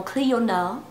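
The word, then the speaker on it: Clionadh: La marque de ces merveilleux highlighters, c'est Clionade, qui se prononce en anglais apparemment Clionade.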